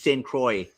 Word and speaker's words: Saint Croix: It's Saint Croix. It's much more American than that. Yes, it's Saint Croix. It's not Croix. It's not C-R-O-I-X. It's not C-R-O-I-X. It is, but it's not pronounced the French way.